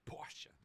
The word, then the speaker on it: Porsche: a piston engine was Porsche Porche sorry Porche that's how you say it uh they first